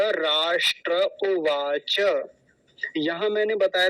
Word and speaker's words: उवाच: क्या है उवाच उवाच कुछ लोग क्या बोलते हैं इसको उवाच कहते हैं उवाच उवाच नहीं होता उवाच ऐसा बोलेंगे तो यह